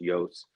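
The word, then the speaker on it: Iooss: and finish out Walter Yos Jr uh which his last name is spelled i o o SS but it's pronounced Yos uh he became a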